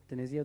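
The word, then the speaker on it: DiNizio: senatorial candidate, Pat Denizio. Denizio, did I say it right?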